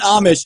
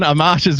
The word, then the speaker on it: Amash: Not Amish, or you will have a bunch of people from Pennsylvania with pitchforks coming after you. It's definitely That's all right. Amash.